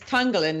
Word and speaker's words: Tonglen: Now, the subtitle of your book is Tonglen Meditation.